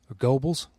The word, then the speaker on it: Goebbels: was it was herbals Goebbels what's good it's pronounced Gorbals but yeah yeah I